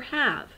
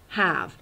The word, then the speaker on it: have: Ha, have. I know it's not obeying the phonics rules because there's a super silent E at the end. It's not have, it's have.